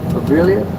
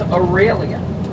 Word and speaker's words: Aurelia: Am I pronouncing it Avelia? Did I pronounce the name correctly? No, he didn't. Her name is Aurelia. There's no V in Aurelia.